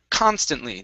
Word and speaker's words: constantly: um next up is constantly now here the stress is at the beginning of the word since it's at the